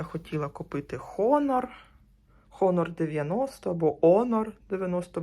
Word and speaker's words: Honor: Спочатку я хотіла купити Honor Honor 90 або Honor 90 ж у Франції буковка F не вимовляється і оце я дивилася